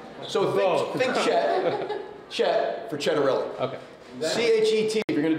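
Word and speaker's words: Ciattarelli: Well, in my hometown of Raritan Borough, where my grandparents immigrated, last name is pronounced Cittarelli. Cittarelli.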